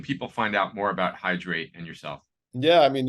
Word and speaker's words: Hydr8: Ralph, where can people find out more about Hydrate and yourself? Yeah, I mean, you can always go to our website, which is Hydrate, that's spelled phonetically, HYDR, the number 8, .us, hydrate.us.